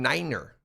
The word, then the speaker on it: niner: tier three fun fact nine is pronounced in niner in the nato phonetic alphabet to avoid confusion with the german word for no thank you for that